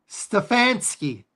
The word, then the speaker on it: Stefanski: Kevin Stefanski.